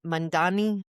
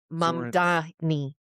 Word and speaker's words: Mamdani: was hitting the news, I'm pretty sure I was putting the M and the N in the wrong place. So originally I was probably saying Zoran Mandani, and it's Zoran Mamdani.